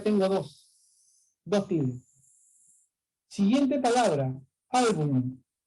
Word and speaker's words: álbum: Esa palabrita, muchos la pronuncian mal. Dicen álbum y lo pronuncian con una N nada más, ¿no? A ver tu álbum con N, pero la palabra es álbum con M. Son pocos los que lo pronuncian con M.